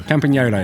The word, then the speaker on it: Campagnolo: I don't know how if I'm going to pronounce this right. Campagnolo. Campagnolo, Italian componentry, spoke.